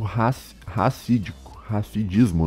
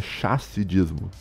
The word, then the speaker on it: chassidismo: era ligada ao movimento racidismo, não sei como é que fala, né, porque essa língua, né, do racidismo, eles são, na verdade, tu pronuncia com SH, seria chassidismo, né, que é um